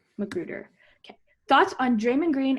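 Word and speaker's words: McGruder: How do you pronounce his last name? Magruder.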